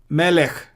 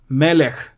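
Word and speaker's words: מלך: Second, the shwa is silent when it occurs under the last letter. Derech, melech. Derech, melech.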